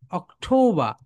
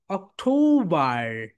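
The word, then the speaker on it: October: অকঠ অথ অকঠ অক্টোবা অক্টোবা অক্টোবা বল অক্টোবার অক্টোবার এখানে British sound কি হয় বলতো অক্টোবা আমেরিকান সাউন্ড অক্টোবার অক্টোবার সবাই বল মাই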